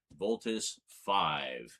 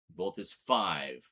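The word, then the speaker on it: Voltus V: Voltus 5. Yeah, this is Combatler V. The V is pronounced as a V. This is Voltus 5. The V is pronounced as a five.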